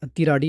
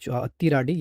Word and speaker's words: Athiradi: तो दोस्तों अतिराडी फैल और इस वर्ड का मतलब है अतिराडी या फिर अतिरादी। अतिराडी या फिर अतिरादी जो भी आपको प्रोनाउंस करना है।